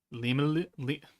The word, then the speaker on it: Rimuru: Like I guess you were calling Rimuru like in Japanese, but in French it's written limele, L's instead of R's. Limele, limele.